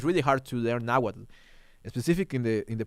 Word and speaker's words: Nahuatl: I also used to I also say it Nahuatl, like with the t at the end, because that's the Spanish way that the Spanish used to pronounce it.